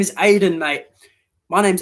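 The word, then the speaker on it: Aden: it what is your name my name is aiden mate my name's aiden and it's not the way you think it's spelled it's not a i d e n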